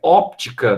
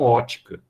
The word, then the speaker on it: óptica: onde que vende óculos mas era para ser óptica não Ótica Oi É parece que eu já vi esse em placa de ótica fez ó Eu só achei que não pronunciava nesse caso para fisicamente correto mas não pronuncie assim ó e mudo aí é óptica aí tá fisicamente a